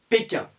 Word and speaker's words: Pékin: On ne dit pas bating, on dit péquin.